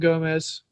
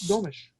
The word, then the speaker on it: Gomes: I believe the Portuguese pronunciation is with a sh at the end. I think that's the right way to say it.